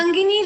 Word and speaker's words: Sangini: Sangini rhymes with Nandini, ma'am.